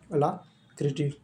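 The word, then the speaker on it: alacrity: Please इसके जो उच्चारण है जो प्रोनाउंसिएशन होते हैं उसे सही से प्रोनाउंस कीजिए। नहीं तो आप ए्बरेस्ज महसूस करेंगे। तो इसका प्रोनंसिएशन होता है अला क्रिटी।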